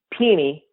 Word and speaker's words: Penny: Hardaway, better known as Penny Hardaway. Is that true? Well, in Memphis, it's pronounced Peeny, but yeah.